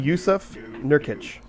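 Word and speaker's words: Jusuf Nurkić: Yusuf Nurkic. I see. You got the last name right, first name wrong.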